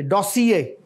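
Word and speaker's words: corps: यह डिप्लोमेटिक लज है ये डोस और आर जो है ना हमारे बहुत सारे लोग जो है इवन डिप्लोमेट भी इसको आर को साइलेंट नहीं करते वो डोस नहीं कहते डोस कम फम फ्रेंच तो उस वजह से फिर यह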